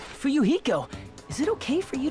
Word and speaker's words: Fuyuhiko: My first name is pronounced Fuyuhiko. Not baby gangsta. Fuyuhiko.